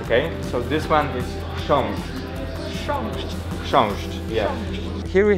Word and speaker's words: Książ: As I said, they are hard to pronounce, okay? So this one is książ.